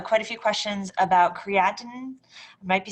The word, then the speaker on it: creatine: Um, this is creatine, it's only, um, three syllables instead of four, and it is a supplement and it actually was shown to be helpful.